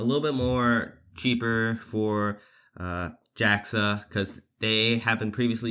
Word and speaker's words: JAXA: And the Japan Aerospace Exploration Agency, called JAXA, JAXA. That's apparently their official acronym.